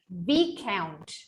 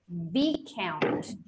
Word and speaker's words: viscount: Now, some of these words, when they were trying to get into the English language, the S, it was pronounced, but then it evolved and we didn't pronounce it anymore.